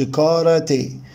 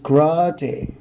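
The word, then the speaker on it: karate: بيبقى صوته قصير جدا، هنقولش كاراتي نوت كراتي كراتي. وطبعا هنا الاسترس حبايبي على المقطع الثاني من الكلمه اللي هو راتي كراتي كراتي كراتي.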